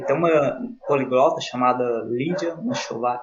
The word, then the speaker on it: Machová: E tem uma poliglota chamada Lídia Machová, eu acho que é assim que pronuncia o sobrenome dela, Machová.